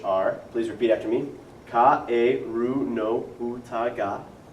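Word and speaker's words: かえるのうた: So what you would do first is you would go over the pronunciation of the words, which are, please repeat after me, Kaeru no Uta ga. Kaeru no Uta ga.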